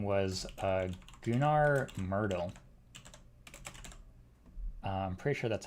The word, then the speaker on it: Gunnar Myrdal: day as this other guy, whose name was Gunnar Myrdal. I'm pretty sure that's how you pronounce his name, and we can look at him on Wikipedia as well.